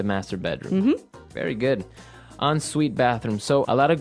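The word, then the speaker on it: en suite: s UI T so even though it's e n we pronounce it like an o n yep on Suite so an on Suite bathroom is a bathroom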